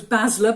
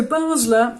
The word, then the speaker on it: Basler: heard of the name I thought it was Basler but when I've Googled it to make sure